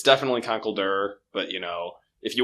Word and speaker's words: Conkeldurr: this episode is you know how do you pronounce that fighting type with concrete pillars it's definitely Conkeldurr but you know if you want to say